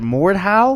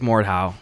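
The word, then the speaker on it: Mordhau: got into this game how do you pronounce it Mort how I think it's more how and it's just a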